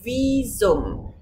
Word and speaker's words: Visum: ¿Cómo pronunciamos aquí la B? Normalmente, tú sabes, la B de vaca se pronuncia como una F. Aquí no, porque es una palabra que viene del latín. Entonces aquí la pronunciamos como la B en español.